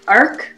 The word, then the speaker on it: Ark: And his name, actually, I don't know if this is a common name, but his name is Ark. Ark? Ark. Ark. Okay. Yeah, like the one syllable, Ark.